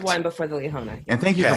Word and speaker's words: Liahona: one before the Leona. And thank you for pronouncing it correctly, Bill.